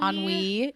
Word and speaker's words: ennui: I think it's ennui. Ennui.